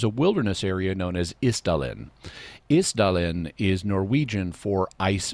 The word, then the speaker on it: Isdal: In fact, they even, if in some recordings we'll hear, you'll even hear them pronouncing it more like ice, even though it's just spelled I-S.